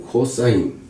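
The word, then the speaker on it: cos: 사인이라고 읽어요. s 사인이 사인 코사인 코스라 그러니 코사인을 읽어요.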